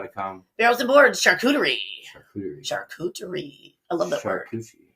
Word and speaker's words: charcuterie: Barrels and Boards, charcuterie. Charcuterie. I love that word. Charcuterie. Shark coochie? Yeah. That's how other people say, a charcuterie board. They don't know how to say it.